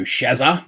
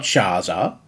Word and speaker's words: Shazza: Hello, Shazza. That's how we pronounce it, people. It's Shazza. Not Shaza. Not Shazoom or whatever else you Americans pronounce.